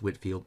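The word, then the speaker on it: Whitefield: whoops I've had George Whitfield it's actually pronounced Whitfield you know doesn't look like it Edwards is I think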